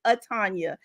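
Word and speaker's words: Atanya: my first name so but it is a like Tanya with the uh in front of it aanya so I've been doing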